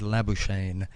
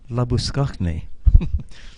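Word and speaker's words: Labuschagne: would you think and i said la buchane and they looked at me non-pulsed there wasn't a clue how to um pronounce it and said oh you mean la buschni so that's how i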